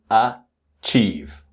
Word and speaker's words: achieve: And then the word achieve. Notice that the first syllable, the letter A, is achieve.